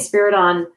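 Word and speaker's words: Spyridon: say it wrong, but Saint Spider, how do you say Spiriton.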